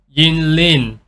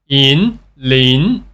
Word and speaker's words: Yinlin: the game so again the mistake that is done by the spelling it looks like Yin Lin but we actually pronounce the first word Yin as in but with more stress so it going to